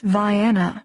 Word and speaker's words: Vienna: During the 40-minute drive to the small town of Vienna, pronounced Vana by locals, the rain reduced to a drizzle, though the sky was dark with a threat of more.